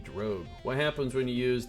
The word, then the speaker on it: drogue: The only way I remember how to pronounce drogue correctly, because I think it's French, is I think of an X-Men character called Rogue, and I just say Rogue with a D, drogue.